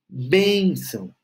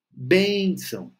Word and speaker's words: benção: aí tá tudo certo benção benção novamente sílaba tônica bem bem logo antes da terminação com o tio então